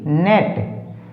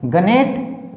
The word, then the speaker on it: gnat: Rule number 7, GN में G silent रहता है।